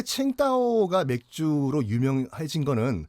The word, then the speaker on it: 칭다오: 청도가 이제 우리 발음이고, 예. 중국식 발음이 이제 칭다오가 되는 거죠.